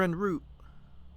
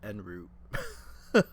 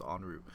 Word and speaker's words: en route: I said en route. Cuz that's the way it's spelled, but I'm pretty sure it's pronounced on route.